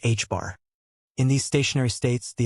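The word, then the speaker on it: ħ: pi denoted by equals h pronounced h bar.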